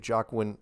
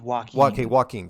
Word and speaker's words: Joaquin: interesting to see if jacqueline i'm sorry is it am i am i pronouncing that right i i i pronounce it walking sorry walking yeah um